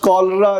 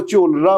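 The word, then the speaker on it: cholera: बड़ा अरसा तक ये जो लफ्ज़ कॉलरा जिसे हम मलेरिया कहते हैं उसे वो चोलरा पढ़ता रहा है।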